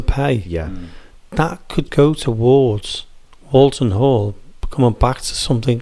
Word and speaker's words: Walton: The one in Warrington is Walton, W-A-L, like Walt Disney. Whereas this one is wool, like what you get off a sheep.